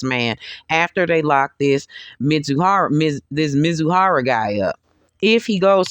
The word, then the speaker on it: Mizuhara: Mizuhari, I'm sorry, I keep on pronouncing the man's name wrong. Did Mizuhara, excuse me, did Mizuhara take things in excess?